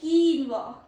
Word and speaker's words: quinoa: Quinoa. Quinoa. This. Meaning a nutritious grain seed. Quinoa is a nutritious grain seed. Quinoa. What is the pro tip? QU sounds like K, not Q.